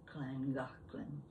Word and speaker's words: Llangollen: might be from Wales, I'd know the correct pronunciation of Llangollen.